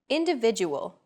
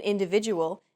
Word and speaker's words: individual: Individual. The stressed syllable vi in individual is deemed more important, so it's pronounced longer than all other syllables.